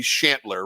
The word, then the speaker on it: Chantler: I mean, seems like that should be Chantler, right?